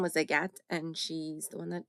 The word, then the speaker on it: Agathe: Her name was Agathe, and she's the one that taught us how to pronounce it.